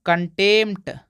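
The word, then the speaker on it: contempt: कि इसको पढ़ते दोस्तों कंटेम कंटेम यहां पे पी नहीं पढ़ेंगे यहां पढ़ेंगे कंटेम मतलब म फिर ट यहां पे प का कोई भी उच्चारण नहीं हो रहा है इसको पढ़ते दोस्तों रिसी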